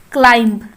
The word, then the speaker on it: climb: The first word is climb. Climb. The silent letter is B.